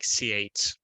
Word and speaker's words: Tsalikis: and uh Spiros uh how do you say your last name like C8 thank you I uh I didn't